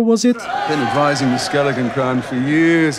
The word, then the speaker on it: Skellige: Then she pronounces Skellige correctly. Skellige.